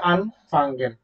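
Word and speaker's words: anfangen: ঠিক না তো দেখেন এখানে আনফাঙ্গেন যে কথাটা আপনি উচ্চারণ করেছেন এইটা প্রোনাউন্সিয়েশনের কিন্তু মাঝখানে একটুখান গ্যাপ পড়ে যেমন আনফাঙ্গেন সবাই একটু মিউট করেন সবাই মিউট করেন দেখেন আন ফাঙ্গেন ঠিক আছে তারপরে কি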